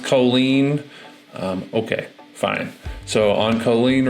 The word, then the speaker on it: Colline: So this house right here, I called it Colline Road, and the listing agent said it's pronounced Colleen.